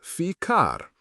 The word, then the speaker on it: ficar: The verb ficar, pronounced ficar.